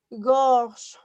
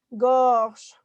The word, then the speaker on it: gorge: Otra palabra que tengo es gorge. Gorge. Ahí suena como en el español. Gorro. Gota. ¿Sale? Entonces aquí, gorge. Gorge, ¿ya te diste cuenta? Ahí la E no tiene pronunciación.